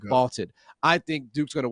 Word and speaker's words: VLTED: Vaulted is spelled VLTED, and it's the app to challenge your friends, store your predictions, and join daily cash prize pools without any entry fee.